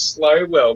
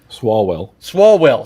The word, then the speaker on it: Swalwell: Last name was Slowwell, man. You would have caught so much shit in school. It's slow. It's like I can't. How do you say his name, Wellred? Swalwell.